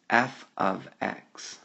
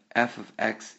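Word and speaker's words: f(x): this symbol right here and that symbol is pronounced F ofx but f ofx is exactly the same as the variable y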